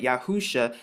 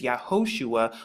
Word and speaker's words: Yahusha: why I arrive at yahusha now you can find more about this in strongs h309 now of course the pronunciation that they're going to give you is yahushua but we're going to find